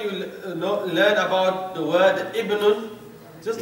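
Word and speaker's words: ابنٌ: But when it is preceded by a word, the initial alif, that hamza, is dropped in the pronunciation.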